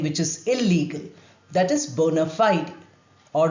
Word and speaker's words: bona fide: A very commonly used Latin phrase is bona fide. Two words, look at the spelling. But in American English, it's also pronounced as bona fide. The last E is also pronounced.